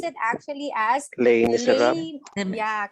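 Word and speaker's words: Les Misérables: Okay, that's we pronounce it actually as Les Miserables.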